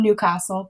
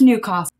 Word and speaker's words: Newcastle: I'm honour airily from Newcastle because I know how to pronounce it correctly it's not Newcastle its new cost Newcastle Newcastle because you